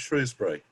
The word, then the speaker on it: Shrewsbury: even the english have differences on how to pronounce shrewsbury right yes yeah my friend from shrewsbury always